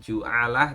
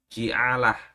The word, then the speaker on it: Ji'alah: Ya, sebetulnya bacanya kalau di beberapa kitab itu bukan ju'alah tapi ji, ya. Pakai kasroh ini jimnya. Ji'alah, ya, atau ju'liyah.